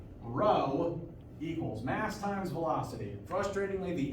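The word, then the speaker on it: rho: for momentum is a initially lowercase Greek letter row there not a fraternity or sorority on campus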